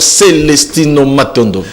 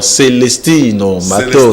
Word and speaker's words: Celestino Matondo: Bonjour pasteur Celestino Matondo. Bonjour papa Godé Mongala Moké. Ah bon, je ne sais pas si j'ai bien prononcé votre nom. Celestino Matondo. Celestino Matondo, oui, c'est vrai. Vous avez bien prononcé ça.